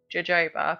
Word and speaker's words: jojoba: I know it's spelled jojoba, but I think you say it jojoba.